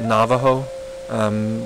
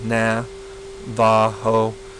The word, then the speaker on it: Navajo: And I'm just to point it out, we're prone, those of us who have studied Spanish, to say Navajo. What I've learned is that Navajo, doing an na, va, ho, is a more precise pronunciation.